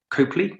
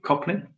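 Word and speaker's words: Copley: the same with uh was his name charlton copely coplin wherever you pronounce it uh he played murdoch i thought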